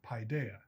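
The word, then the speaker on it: paidia: p a i d i a and it's pronounced paa I want you to remember that word because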